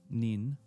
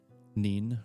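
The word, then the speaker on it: Nene: Or wait, did I say Neen the first time or did I say Nen? I don't remember what I said. Huh. N-E-N-E, but pronounced N-E-E-N, maybe?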